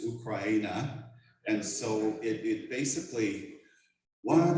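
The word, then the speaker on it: Україна: I have been going on YouTube and other things to make sure I have the right Ukrainian pronunciation of Ukraine. I think I'm pretty close to it. It's Ukraina. Yes.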